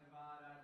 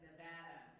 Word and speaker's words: Nevada: They don't say, well, first of all, y'all, it's Nevada, not anything else, not Nevada, not Nevada, it's Nevada, okay? Bad, Nevada, so get that right.